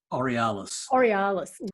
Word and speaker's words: Aurealis: He's one of the co-publishers of, I can't never say it properly, Aurolus. Is that the right way to say it, Michael? Aurealis, Australia's longest running fantasy and science fiction magazine.